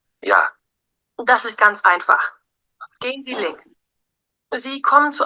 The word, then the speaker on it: gehen: Gehen Sie links. gehen Sie links, বুঝতে পারেন যে গেহেন ভার্বটারে কিভাবে উচ্চারণ করছে, gehen Sie, মানে এইচ উচ্চারণ হয় না, gehen Sie links, অর্থাৎ আপনি বামে যান।